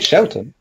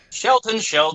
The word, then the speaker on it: Sheldon: He's called Shelton, but it's still... Sheldon, it's all in the pronunciation.